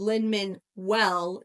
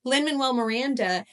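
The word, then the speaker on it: Lin-Manuel Miranda: Lin manuell Linn manuell I I said it right but I in my head I said Lin minwell w l l and I was like wait is that right no Lyn Manuel Miranda the overlapping story lines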